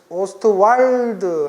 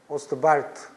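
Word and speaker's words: Ostwald: 그래서 독일 분이라 오스트왈드 하면 그건 이제 미국식 발음이고 W가 폭스바겐 할 때처럼 W는 V 발음이 나요. 오스트발트.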